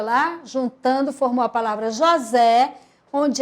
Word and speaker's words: José: jovem Zé olha lá juntando formou a palavra José onde é escrita com s por intenção de